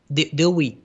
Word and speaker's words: Dewey: And in fact, extends and in fact, in the 20 decade, 1920, how you pronounce this? Dewey.